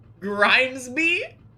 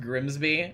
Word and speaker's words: Grimesby: Grimesby. That's such a slimy sounding name. I'm Grimesby. Sounds like you you're you're a like gremlin. Oh, it's pronounced Grimsby.